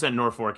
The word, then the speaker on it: Norfolk: Norfork. It's Norfork. There's no R in the second half of that word. It's not. But that's how you say it.